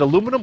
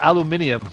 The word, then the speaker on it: aluminium: And the question is it aluminum or is it aluminium? Which I heard the British saying it that way.